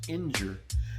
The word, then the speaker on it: ngr: an exercise in futility the word ngr pronounced injure means god an ancient